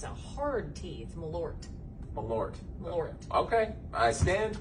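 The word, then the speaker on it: Malört: this to you on camera but it's actually pronounced melor the t is silent so no no no it's actually it's a hard teeth malort a lord okay i stand corrected well i'm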